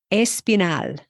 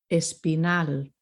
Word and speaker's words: Espinal: words, unless it's noted, the accent falls on the final syllable, which is not intuitive for English speakers. So let's look at this list. Amenal. Amenal. Espinal. Espinal.